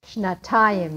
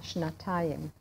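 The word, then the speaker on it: שנתיים: Shnatayim. You need a tav in there because it's shana. Shnatayim.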